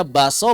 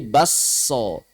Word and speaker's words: bakso: Tulisannya bakso, bacanya baso, bacanya bakso. Di Makassar, di Bugis, beda lagi bahasa Bugis. Bukan baso, bukan bakso, tapi diidgham menjadi basso.